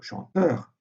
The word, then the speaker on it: chanteur: On dit, par exemple, chanteur avec R final, mais on dit premier sans le R final.